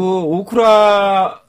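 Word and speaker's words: 大倉: 오구라는 소창, 한자로서는 소창이고 오쿠라는 대창, 예. 큰 대자를 써서 이제 약간 발음 비슷해서 오구라 오쿠라 사람들이 소참 헷갈려요.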